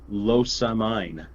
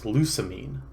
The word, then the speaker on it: Lusamine: this next matchup well i thought we pronounced it los a mine no it's lusamine oh wow anyway i